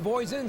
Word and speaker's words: Voisin: C'est Vincent Voisin, c'est comme ça qu'on doit le prononcer, puisqu'il est américain de la Californie. Ce serait Vincent Voisin, s'il habitait bien sûr chez nous, qui est en deuxième position dans la F2 numéro 23.